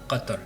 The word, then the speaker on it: Qatar: arabe ici, c'est que le nom Qatar est prononcé Qatar. Ce son n'existe pas dans de nombreuses langues, ce qui rend plus difficile pour les étrangers d'apprendre à le dire correctement.